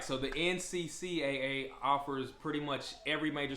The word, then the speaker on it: NCCAA: So, that organization is called the NCCAA. Now, that is not, me mispronouncing NCAA. There is an extra C in there.